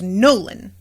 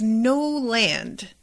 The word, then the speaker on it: Noland: and no subtitles and i thought his name was nolan because that's a name i have a cousin named nolan actually but no it's no land and they just sort of say it like nolan you know and it's